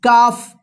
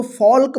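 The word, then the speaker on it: calf: एफ इसको क्या पढ़ेंगे काफ इसको इसको फॉल्क मत पढ़िए ठीक है ना फॉक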